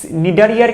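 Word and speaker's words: Cnidaria: আচ্ছা, একজন প্রশ্ন করছে, স্যার নিডারিয়ার ক্ষেত্রে সিটা কেন উচ্চারণ করা হয় না?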